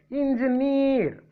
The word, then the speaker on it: engineer: And now let us see next word, engineer. Engineer. See here, EER before in N G near. This is a polysyllable trisyllabic word, N G near.